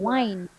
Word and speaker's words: wine: the same time and practice pronouncing the W as in one wine and v as in Vine so now yes wine